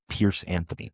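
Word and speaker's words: Piers Anthony: It is called The Saints Novels by Pierce Anthony. That is spelled X A N T H.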